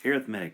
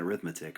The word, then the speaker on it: arithmetic: a arithmetic defo no I'm saying that it's arithmetic not arithmetic okay so the the adjective form of arithmetic is arithmetic all right so and